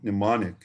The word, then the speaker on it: mnemonic: Longman, for example, Longman Dictionary of Contemporary English says mnemonic and gives the pronunciation mnemonic.